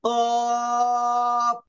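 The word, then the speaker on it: ق: ওইটা উপরের তালুর সঙ্গে লাগবে, লেগে উচ্চারণ হবে কফ। কপ।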